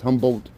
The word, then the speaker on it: Humboldt: Humboldt, not humble. It's not like humble pie. It's Humboldt. He was a guy.